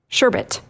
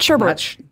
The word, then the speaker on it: sherbet: s h r b oh man it's sherbet sherit right yeah it's not sherbet no not sherbet it's sherit bit right uh and so